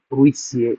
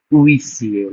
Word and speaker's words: huissier: any word starts with H H is generally not pronounced. Like huissier, like homme like huit which is eight.